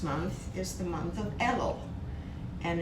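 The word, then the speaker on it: Elul: month the previous month is the month of ello and it's spelled in english e l u l and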